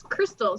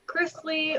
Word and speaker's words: Christle: Crystal LTS golf yeah by the way it's Crystal c h r i s t l e many mispronounce it chrisly or Chris or crystaline or crysal yeah I think Jamie was like the first